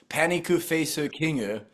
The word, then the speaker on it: Panic Face King: the LIE number two Panic face King pronounced paniku face kingu is not yeah the false